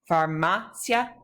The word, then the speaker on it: farmacia: Farmacia, the IA is considered to be together. Cia is considered to be all one syllable together, so the accent is on that second A of the second to last syllable.